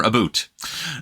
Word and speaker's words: about: All right, so this is going to bring me to about, or aboot. Now, I have said it before, but I'll say it again and again and again, that people definitely pronounce it aboot.